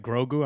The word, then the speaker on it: Grogu: Grogu, I'm saying it right?